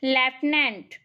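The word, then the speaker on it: lieutenant: army में पद है लेफ्टिनेंट और लेफ्टिनेंट की स्पेलिंग है धेरै अ यूटीआई एंटी और इसकी सही प्रनंसीएशन होती है लेफ्टिनेंट ठीक है यह काफी अलग है कि हिमस्खलन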